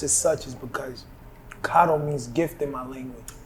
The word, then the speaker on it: Kado: you're drinking honey and the reason why it's pronounced as such is because kato means gift in my language so if you say keto you're not even talking to me that energy